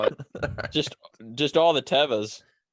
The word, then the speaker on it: Teva: answering this question hayes doesn't even know how to pronounce teba he calls it teva it is teva ask somebody that works there don't look at me